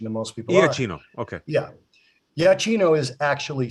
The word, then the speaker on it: Giacchino: You were closer to correct pronunciation than most people. Iachino.